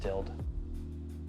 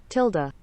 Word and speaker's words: tilde: forwards the tild button i think it's pronounced tilled not really sure tilda this button makes your